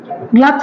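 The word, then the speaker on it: gloves: तो आप उसे ऐसे बोलेंगे कि आप अपने दस्ताने सही हाथ में पहनो, तो पुट ऑन योर ग्लव्स और ग्लोव्स, whatever you want to से, both are the right pronunciation, okay.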